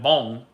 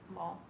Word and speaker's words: bom: Like bom would always be bom. If you see something ending in on, it would always be on. Yeah, bom.